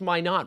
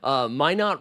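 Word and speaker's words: Minott: Minot rhymes with why not your French version, which is true. I was saying Josh Minot.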